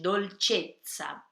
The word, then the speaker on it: dolcezza: E esse tsa tem o som da pizza, tem dois Es, então é um tsa bem forte, dolcezza, tá?